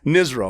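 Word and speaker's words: NSRO: But it was funny because my nickname was Nizro, N-S-R-O, Navy SEAL Rob ONeill. And it's pronounced Nizro.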